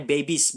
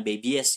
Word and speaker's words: babies: baby jadi baby es tapi dibacanya babies bukan baby es ya tetap baby saja